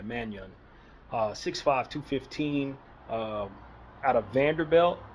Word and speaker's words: Mannion: It's spelled Manon, but it's like you put a Y in there, Mannion.